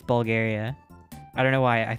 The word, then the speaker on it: Bulgaria: said Bulgaria oh whoa it's not Bulger it's Bulgaria I don't know why